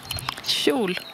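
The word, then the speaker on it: kjol: Shul. Shul. Une jupe. Mm-hmm. KJ se prononce SH.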